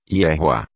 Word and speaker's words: Yehoá: Para chegarmos à pronúncia completa do nome do Criador, basta pegarmos a pronúncia do tetragrama no nome de Josué e acrescentarmos a pronúncia do último rei com o som de A. Teremos então a pronúncia completa como Yehoá.